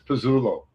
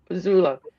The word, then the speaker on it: Pezzullo: It's Pezzullo. Pezzullo.